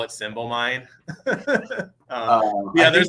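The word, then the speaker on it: Simbelmynë: theodan saying this and it's actually pronounced simble Mna but I would never know to say it like that so I always I call it symol mine yeah there's like an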